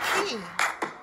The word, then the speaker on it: Quay: Oh, it's key.